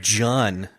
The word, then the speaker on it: Jun: to talk to Jun and I'm going to go ahead and say what he said it rhymes with fun but it's uh with with a J it's it's